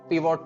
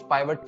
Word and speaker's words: pivot: तो ये है पूरा पिवोट टेबल। कुछ लोग इसको पिवोट टेबल बोलते हैं, कुछ पाइवट टेबल बोलते हैं, दोनों ही सही है प्रोनाउंसिएशन में, जिसका मेन काम